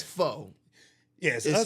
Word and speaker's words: pho: a Vietnamese spot, like it was like a pho spot or a pho spot, however the fuck you pronounce it. Yeah, I got Pho. slayed in my food reviews when I kept saying pho.